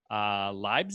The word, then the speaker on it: Leibniz: So Isaac Newton, and who was an English physicist, and then a German mathematician named Gottfried Leibniz.